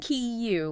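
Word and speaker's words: queue: But it's just Q. Q, like one syllable.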